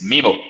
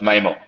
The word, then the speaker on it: MIMO: the little little thing it's mimo not memo it's uh yeah but